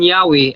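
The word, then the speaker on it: Yahweh: ilang libro bro while inclining to view the pronunciation yahwe as more correct way ang yawe daw Mas correct daw ang ang pronunciation.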